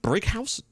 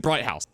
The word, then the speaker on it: Brighouse: Lovely old job to give us the lead against Brighouse. I kept pronouncing it Brighthouse.